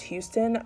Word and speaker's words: Huston: So plot twist, it actually is indeed pronounced Houston.